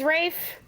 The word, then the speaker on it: Ralph: Oh, it is Rafe? Then why did you put Rafe? Well, that's how it's spelled. Yeah, it's weird. Damn Brits. Yeah, damn Brits indeed. Damn Brits always putting letters in there that don't do anything.